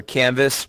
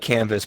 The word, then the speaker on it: Canva: The website I use is called Canva or Canvas, some people call it. It's spelled like canvas, but it's pronounced Canva.